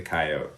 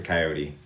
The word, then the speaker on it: coyote: the continent to the wolf would be the coyote, or the coyote, depending on how you want to pronounce it.